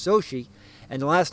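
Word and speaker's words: Xochitl: an oddly spelled name it's x-o-c-h-i-l-t nice mexican name pronounced so she and the last name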